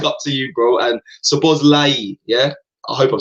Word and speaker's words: Szoboszlai: Name is Szoboszlai. You have to pronounce it. Szoboszlai. Szoboszlai. Cool. Szoboszlai. Not an I at the end. Not an I at the end. Big up, guys. Szoboszlai. Szoboszlai. Cool. Fine. There's no I.